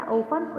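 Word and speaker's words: often: जो टी है वो साइलेंट है, तो इसलिए इसको पढ़ते हैं ऑफन.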